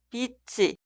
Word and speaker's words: 빛이: En estos casos, en la pronunciación, la consonante final 쯧 se traslada al lugar de ing en la sílaba posterior y se pronuncia 쯧 como consonante inicial. 빛이, 빛이, 빛을, 빛을, 빛에, 빛에.